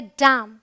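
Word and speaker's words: damn: Rule number 2 क्या कहता है, अगर एन के पहले एम आए, मतलब एम फिर एन आए, तो आपका जो एन है वो साइलेंट होगा।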